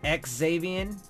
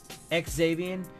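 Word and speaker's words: Xavien: would save Ian Howard you're supposed to pronounce it ex avian ex avian and Davian like you actually have to pronounce the X anyway Jerome Baker Sachs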